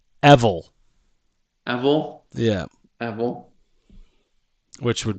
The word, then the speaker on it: Evul: I think his name should be pronounced Evil.